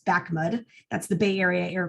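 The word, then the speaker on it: BAAQMD: and appliances um so this crazy acronym at the beginning we pronounce bakmud that's the bay area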